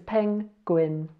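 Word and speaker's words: 펭귄: Oh yeah, now I need to tell you, if this circle comes at the end of a syllable, then it's not silent, it's a ng sound. So that says peng. Here we have a g, another double vowel, so we've got an U and an E, says a we, and a N to finish with. So this is penguin.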